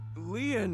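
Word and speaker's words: Lien: My name, Leon, is spelled L-I-E-N.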